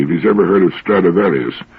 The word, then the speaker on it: Stradivarius: he's ever heard of stradivarius which is the latin pronunciation of the name throughout history they've been